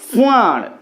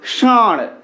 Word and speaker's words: ষাঁড়: এখানে যে শব্দটা লেখা রয়েছে, এটা যদি আমরা মূর্ধাকে স্পর্শ করে উচ্চারণ করতে চাই, তাহলে কেমন হবে? ষাঁড়। কিন্তু আমরা কি ষাঁড় বলছি? বলছি না, তো আমরা বলছি ষাঁড়।